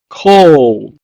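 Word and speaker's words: קול: the next one is Voice or sound in Hebrew is pronounced as coal Coal the next word is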